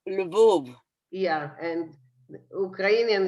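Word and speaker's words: Lwów: Well, so you pronounce it differently. In Polish, it's Lvov.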